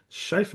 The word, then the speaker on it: Schaeffer: Wes Schaeffer. Now, did I pronounce that surname correctly, Wes?